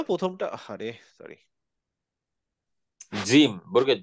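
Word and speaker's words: جيم: আজ এটা হচ্ছে জিম দিয়ে, মনে রাখতে হবে জিমের উচ্চারণ হচ্ছে বর্গীয় জ, বর্গের জ। বর্গীয় জ। এবং ইংলিশে এটাকে বলে হচ্ছে জ্যাক। হ্যাঁ, তাহলে ইংলিশের যে জ্যাক, সেটা হচ্ছে বাংলায় বর্গীয় জ, আর অ্যারাবিকে হচ্ছে জিম।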